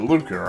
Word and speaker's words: lucre: 60 lucre. Or lucre, I guess is technically how you say it. I heard Angela in Trials of Mana say something about lucre, and she pronounced it that way.